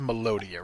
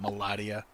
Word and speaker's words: Melodia: Fernandez the melodia watching it is melodia right a hard o it's not Madia let me know don't